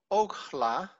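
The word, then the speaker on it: אָכְלָה: is achala so on only in the first one it's called oakhla because it is a closed syllable alef camezhatuf it's a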